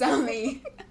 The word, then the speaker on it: Zumi: human I always want to pronounce it zomi it's me too it's Zumi zum Zumi's like nah this